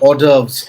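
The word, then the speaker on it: hors d'oeuvres: yeah there's one there's a French word called ores ores but you spell it as hos Dev you know which is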